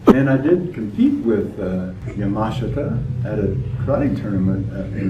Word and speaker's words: Yamashita: Yamashita, or Yamashita, as I understand I'm supposed to pronounce that, has been a very impressive martial artist for as long as I have known him.